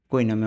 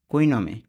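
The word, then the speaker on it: cognome: এখানে হবে না তাহলে জি এন টা একসাথে উচ্চারণ করব কি হবে জি এন মিলে নি জি এন এর পরিবর্তে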